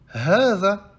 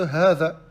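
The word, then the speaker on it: هذا: Comme par exemple, hadha, hadha. Le ha, on l'allonge. Pourtant, il n'y a pas de elif. Donc le elif, il a été effacé de hadha. D'accord? Il a été effacé de hadha.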